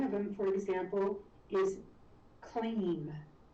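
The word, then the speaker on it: klim: And one of them, for example, is clean. So it's spelled K-L-I-M, but it's spelled more like K-L-E-E-M, clean.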